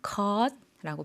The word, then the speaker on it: คอร์ส: 코스라고 했는데 한국어로는 발음할 때 코스, 1시간 반 코스 이렇게 이야기하지만 태국어 발음은 컷라고 발음해 준다는 것 기억해 주시고요.